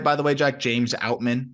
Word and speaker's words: James Outman: by the way Jack James outman did I pronounce that right yeah no you're good arum thanks for checking